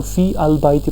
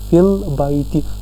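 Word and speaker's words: فِي البَيْتِ: तो फ़ी अल बैती पढ़ने में नहीं आता, पढ़ने में आता है फिल बैती, क्योंकि अल साइलेंट होता है सेंटेंस में जब हम इस नाउन का इस्तेमाल करते हैं।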